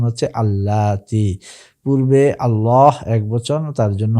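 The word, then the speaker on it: اللاتي: তাহলে এখানেও আমরা দেখতে পাচ্ছি আনিসা আ মুয়ান্নাস বহুবচন এসেছে তার ইসমুল মসুল প্রটিও এখানে বহুবচন মুয়ান্নাস হিসেবে এসেছে এবং তার উচ্চারণ হচ্ছে আল্লাতি পূর্বে আল্লাহ একবচন তার জন্য হয়েছে আল্লাজি আল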